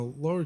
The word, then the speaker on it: Lower: you years ago on that's not Lower, that's Lower Trail. And yes, it's spelled Lower, but it was the name of a person, a lawyer by the name of Lauer, who donated a lot